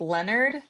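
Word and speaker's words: Lenert: What is Leonard? So basically like Leonard. Think Leonard and Connie.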